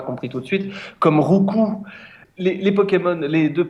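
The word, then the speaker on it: Roucoups: qui donne des coups il y a beaucoup de gens qui disent rouous ah oui oui oui c'est le la prononciation la plus répandue effectivement mais pour mais rouou ça veut rien dire rouous depuis je pleure en position fétale donc la vraie prononciation c'est rouu bah oui il donne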